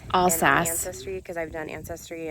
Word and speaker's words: Alsace: it's like i mentioned i know i'm saying it wrong but they mentioned all says is how i say it in france all sas history because i've done